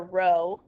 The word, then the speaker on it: rho: if you see that it's actually the letter rho that's how i would pronounce that um that's going to